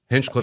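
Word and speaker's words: Hinchliffe: You know, I did see I hope I'm saying it right, that the Hecatuff Stadium, Hinchcliff Stadium got huge, huge grant that got rebuilt.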